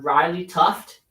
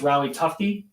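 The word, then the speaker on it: Riley Tufte: On Hershey, uh for not Hershey, for Providence, I would keep an eye on Riley Tuft and Patrick Brown. Um you didn't pronounce him right. It's Riley Tuy.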